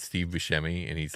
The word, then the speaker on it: Buscemi: And I don't know what show it's from, but it's Steve Buscemi, and he's like at a high school undergrad.